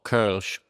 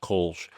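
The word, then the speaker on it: Kölsch: And one of the styles we brew is called Kch, which everyone in the United States pronounces Kulch.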